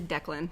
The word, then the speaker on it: Declan: that's by those guys it's actually declan that's how you say it yeah see that's why